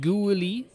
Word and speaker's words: Guili: Julie is pronounced Guili, which I should know that as well now.